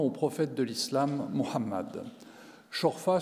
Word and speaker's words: Chorfa: Chorfa, c'est comme ça qu'on le prononce de manière, disons, locale. En arabe classique, ce serait Shorafa.